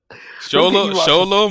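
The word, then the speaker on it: Xolo: that's not how you say his name yesol sholo Mar D Winer you just said two different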